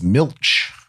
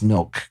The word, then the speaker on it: milch: translation I'm reading it's milch cows milch cows m i l c h and I believe I believe it's milk cows so I pronounced it milk but yeah I don't